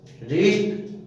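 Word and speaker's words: wrist: Rule number 7, यदि शब्द W से शुरू हो और उसके तुरंत बाद R आए तो W का उच्चारण वह नहीं होता है और W साइलेंट अर्थात अनुच्चरित रहता है। जैसे राइट, राइट माने लिखना, इसमें W नहीं बोला गया, राइट तो नहीं लिखा, नहीं बोला हमने।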